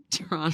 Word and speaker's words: Toronto: Well, Toronto is not spelled just like how it sounds, because the actual spelling for Toronto is Tronno. Toronto. No, Toronto. Tronno.